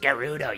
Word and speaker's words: Gerudo: of respects to Rudy it's pronounced Gerudo you stupid [ __